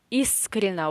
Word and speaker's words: искренно: So, the stress is in the first syllable, искренно. So, ye in the middle and o in the last syllable, they are in unstressed positions. So, we say искренно.